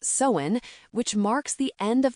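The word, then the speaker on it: Samhain: The crisp autumn air thickening with anticipation, mirroring the ancient Celtic festival of Somhain, pronounced sewen, which marks the end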